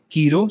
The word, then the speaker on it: Kiro: So this is what it is, and it's named Kiro because it rhymes with hero, because among other meanings, it represents a hardworking person who never gives up.